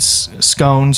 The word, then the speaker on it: scone: And like I said, Abby made scones or scon if you will depending how you pronounce it. I always thought scones. I guess it's depending on where you come from in the UK or whatever.